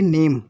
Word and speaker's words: name: क्या लिखा हुआ है, यदि किसी भी शब्द के अंत में ई आए, जैसे आपने कोई वर्ड राइट किया है, ई आता उसके अंत में ई है, तो वहाँ ई का उच्चारण नहीं किया जाता है, ठीक है। अर्थात हम ये कह सकते हैं कि वहाँ ई को साइलेंट मानी जाती है।